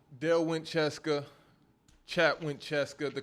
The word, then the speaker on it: CSKA: Cheska and Ephes.